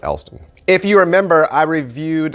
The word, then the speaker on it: El3don: there's three downloads um actually it's not really ellsden it's e l three d-o-n the s is replaced by three because there's three tricks cool i don't know how to pronounce the three so we'll just call it elston if you remember i